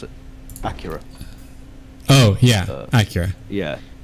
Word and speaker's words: Acura: just reviewed the new nsx how do you pronounce it acura oh yeah accurate yeah acura so they just released the new nsx which